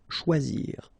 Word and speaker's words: choisir: Okay, remember when you combine this C and H, you get the sound sh, and then OI, wa, okay, choix, and then zir, choisir.